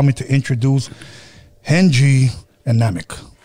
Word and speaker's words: Namek: Yeah, it's Namek, like dynamic, brother.